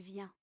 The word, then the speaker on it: vient: Il vient. Elle vient. Il vient des États-Unis. Huh. Je viens de France. Elle vient d'Angleterre. We don't pronounce the final T of elle vient.